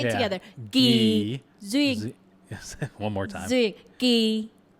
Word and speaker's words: Duyên: Because it's Duyên, and anytime there's a D with a UY, it's not pronounced as a D. Okay. Just keep that in mind. If it's a D and there's a UY, then it becomes U instead of duh.